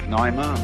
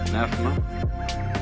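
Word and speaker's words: pneuma: the Greek word uh you may pronounce it Pima or PMA uh is the same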